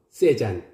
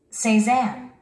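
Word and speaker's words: Saint-Saëns: 쑬 으 생생 생생 우리 한국인들은 이 단어를 3장 잘해 줘 세잔 프랑스 후기 인상파 화가인 폴 세잔 오는 민도로 이렇게 말합니다 생 새 생생 새 생상 두번째 단을 들어보시겠습니다 4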